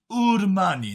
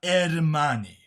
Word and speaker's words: Armani: No, it's pronounced Urmani, not Ermani.